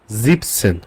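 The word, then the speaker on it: siebzehn: বাট একটা সংখ্যার ক্ষেত্রে একটা এক্সেপশন আছে যেটা হচ্ছে সে কিন্তু জিভেন সেন আপনি বলবেন না আপনি বলবেন জিপসেন ওকে জিভেনের এ আর এন অংশটুকু বাদ যাবে সে ক্ষেত্রে বলবেন জিপসেন দেন জিপসনের ক্ষেত্রে কোন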